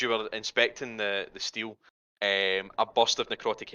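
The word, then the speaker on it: stele: stylus oh it's steel it's s-t-e-l-e but they pronounce it steel so it steals um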